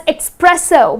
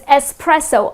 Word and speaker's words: espresso: Many people tend to say it as' expresso' but it's not expresso it doesn't have x in the spelling neither it is pronounced as expresso, the correct pronunciation is